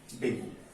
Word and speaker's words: dengue: ठीक है, डेंगू is caused by डेंगी virus. इसका एक्चुअली में मैं आपको बताऊं, इसको जो हम लोग डेंगू बोलते हैं, ये इसका करेक्ट प्रोनाउंसिएशन नहीं है। इसको क्या बोला जाता है, डेंगी बोला जाता है।